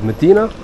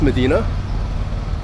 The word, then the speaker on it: Mdina: way you pronounce it there's no e between m and d but I think it's Medina um supposed to be